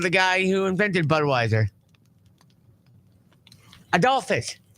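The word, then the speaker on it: Adolphus: Bush found in bud I get the first name wrong then what I what the first name I called it's ad Dolphus ad Dolphus Bush I didn't call him ad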